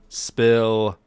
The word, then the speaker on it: Spill: This is the 59th edition of the Chill Spill podcast. The S is silent, by the way.